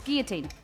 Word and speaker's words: guillotine: yeah double l o t i n yeah guillotine guillotine it's guillotine your team yeah gear team that's like the